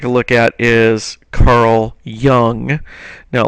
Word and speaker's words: Jung: look at is Carl young now it looks like J Jung or something like that but it's actually pronounced young Carl Young and Carl